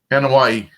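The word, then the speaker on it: Anoa'i: have been the 55th birthday of Rodney Akatupu Annoya, a.k.a. the mighty Yokozuna. He was born in San Francisco. Annoya, is it Annoya or Noi? Annoya. Annoya. Oh my, say that again for me, slow. Annoya. Anawani.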